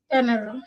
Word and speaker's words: Denarau: the name of it Denarau Denarau Denarau yeah Denarau Yes. She pronounced it correctly Oh that's beautiful so now